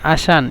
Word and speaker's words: علشان: يعني علشان هنا لو تكتب علشان يكون عين لام شين ألف نون علشان، لكن عند النطق بس عشان يعني لام لا، لام تحذف عشان.